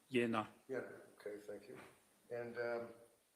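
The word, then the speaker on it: Jena: Kupka who is the managing director of terra medical a v a t e r a medical in Jenna j e n a German yeah it's pronounced yenna okay thank you and um this was so that you could something funny Dr.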